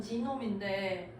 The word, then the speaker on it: 게놈: 그냥 저기 게놈 합시다. 사실 영어로는 지놈인데 원래 저 영어도 지들 읽고 싶은 대로 읽고 원문 발음 안 살리잖아. 원래는 게놈이죠. Copying in our body.